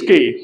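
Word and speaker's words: quay: And the last one is it's key.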